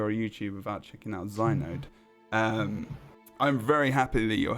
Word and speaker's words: Xynode: You pronounce it Xynode, not Xynode or anything else like that.